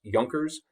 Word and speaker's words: Junkers: uh the term up there that looks like junkers is pronounced junkers and and what that term means or represents